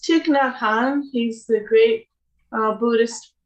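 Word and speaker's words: Thích Nhất Hạnh: say that i i don't know how to pronounce it yeah it's chic na han he's the great uh buddhist monk and peace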